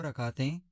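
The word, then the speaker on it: rak'ah: रकाह Urdu meaning रकात।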